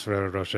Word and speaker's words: Ferrero Rocher: See, I didn't pass it because I've always known how to pronounce Ferrero Rocher because they had that famous advert.